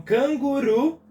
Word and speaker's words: canguru: o que a última então Canguru é uma oxítona vira última sílaba é a sílaba tônica então nós chamamos de